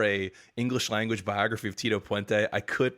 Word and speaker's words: Tito Puente: also feel like Rob you're doing it a little wrong when you say his name is Tito pente I feel like you have to say his name is Tito pente like he's got like a Pizazz to him you know he definitely